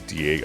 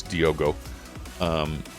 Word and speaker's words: Diogo: And I was saying it wrong before. It was Diego. I said Diego, but now I understand it's Diogo.